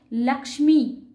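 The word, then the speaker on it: लक्ष्मी: উদাহরণ কি একটা লিখবো লক্ষ্মী আমরা খুব বলি না লক্ষ্মী সংস্কৃতে তার উচ্চারণ হয় লাক্স্মি ল ক এ মধ্যস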